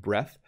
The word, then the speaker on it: breath: So once again, breath, no E on the end, and it's just pronounced breath.